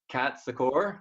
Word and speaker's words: Kat Secor: I've got Kat Secor. Is that how you pronounce it?